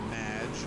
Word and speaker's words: Madge: It's Madge, which rhymes with badge.